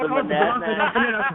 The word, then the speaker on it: Monadnock: How do you say that? We like to call that the Badonkadonk. That's the Badonkadonk Film Festival. It's the Monadnock Film Festival. It's the Monadnock International Film Festival in New Hampshire.